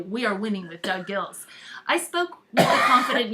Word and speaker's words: Goelz: called winning with Doug gills and it's spelled g-o-e-l-s that for some reason he wants it to be said gills Doug gills is a